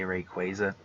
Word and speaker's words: Rayquaza: How do you say Rayquaza?